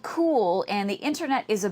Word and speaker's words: Cuil: for coming in so talk to us about cool that's how it's pronounced and spelled c-u-i-l and why is there